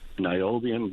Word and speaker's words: niobium: And one thing people didn't look at in the area is, there is uranium up there, which is separate, but niobium being a key mineral, so very hopeful for Search again.